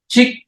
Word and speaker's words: ཅིག: The sounds pronounced like a one, chik.